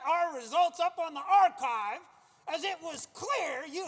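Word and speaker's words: arXiv: It's pronounced archive.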